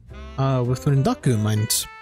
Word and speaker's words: rendaku: Okay, so the term is a rendaku, which I couldn't think of earlier, is how some terms are altered to make the pronunciation a bit more flowy. It's essentially a phenomenon in Japanese which causes the pronunciation of the non-initial word in a compound to change, and sometimes there are exceptions to that rule.